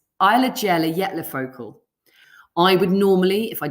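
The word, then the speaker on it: Eyjafjallajökull: vietnam yeah oh i've not fluffed it it's eyelagella yet lafocal i would normally if i didn't know how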